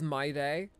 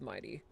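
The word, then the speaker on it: Mydei: Like I thought it was my day, as in like today is gonna be my day. But no, it's Mighty.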